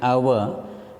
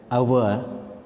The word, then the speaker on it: hour: One more rule is there: if a word beginning with silent h For example, an hour, because here H remains silent, we pronounce it as an hour, an hour, an hire, an honest man, etc.